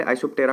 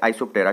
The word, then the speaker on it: Isoptera: सो सबसे पहले आइसोप्टेरा का मीनिंग क्या होता है। आइसो मींस हो गया सेम, एंड टेरा मींस, यहाँ पे पी जो होता है साइलेंट होता है, तो टेरा का मीनिंग होता है विंग्स।